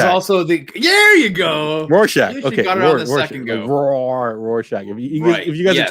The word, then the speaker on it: Rorschach: we have okay here's the fifth time uh roshack number five nope no it's not the fifth time is also the there you go rorschach okay if you guys are tuning in i've